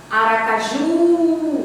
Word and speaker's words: Aracaju: aí eu voltei aqui chamava lá aracaju você demora mais no ju então hoje pode rir